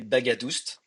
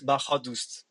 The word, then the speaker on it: Baghadoust: But my fathers come from Iran and the right way to pronounce it will be little bit different. The gh make a h sound and the second a is a different a. So it's bahadust but we say bagadust.